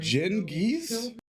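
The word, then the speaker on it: Cengiz: Jen, giz is like geese but shorter on the e sound. Geese. Anyway, Jen geese.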